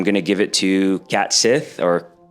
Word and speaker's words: Cait Sith: out and said it's it's meant to be pronounced. Um, Kate Sith.